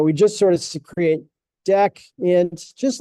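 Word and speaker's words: deque: Uh, so there's our deck. I used to call this DQ, but apparently that is not how you're supposed to pronounce it.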